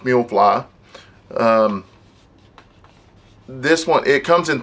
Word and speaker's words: Miufly: of the box looks like I believe it's pronounced meal fly this one it comes in 32 gigabytes and